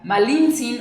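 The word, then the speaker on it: Malintzin: de hecho surgió porque los españoles no podían pronunciar perfectamente su nombre que era malintzín o malinalli entonces se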